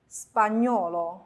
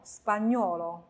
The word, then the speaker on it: spagnolo: 下一行，住牛，住牛。spagnolo spagnolo impegno impegno，因此呢，在读